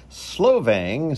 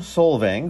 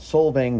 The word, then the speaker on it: Solvang: a place called solvang i know you're gonna hear me say slovang several times but guess what i said it wrong that's that's just